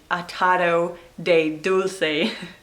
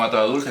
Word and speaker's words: atado de dulce: up, atado de dulce, and I was trying to pronounce it correctly, and so I was saying atado de dulce. But no, if you listen to how Tomas says it. Con atado dulce, creo que lo endulzan.